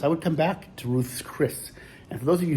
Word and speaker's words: Ruth's Chris: would come back to Ruth's Chris and for those of you who don't want to sit online pronouncing it Ruth's Chris that's what it's called it's like Ruth's Steakhouse but Chris is in there too that's a